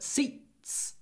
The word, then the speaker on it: seats: But seats. Seats. It's very short before an unvoiced t.